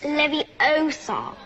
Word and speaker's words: Leviosa: pause and practice saying it's levosa not levosa besides you're saying it wrong it's Leviosa not tip number four mimic